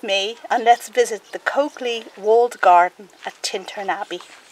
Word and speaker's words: Colclough: The Colclough family, yes, marvel at the pronunciation of this unusual name, but I'm reliably